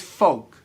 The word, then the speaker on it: folk: The word is folk. Okay, like when you're talking about like your family, like my folks. Like over the weekend, I saw my folks.